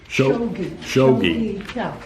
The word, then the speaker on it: Shawgi Tell: Does he pronounce it Shawgi Tell or what? Shawgi Tell.